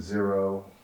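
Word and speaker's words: Xero: Wade and then we'll move to zero which is spelled with an X um and uh you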